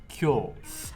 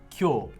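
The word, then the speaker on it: 今日: so for today it's kyo kyo but it's pronounced cure i think i've seen this kanji before isn't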